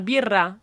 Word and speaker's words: birra: Can you roll your Rs? No, I can't. It's double R. It's birra.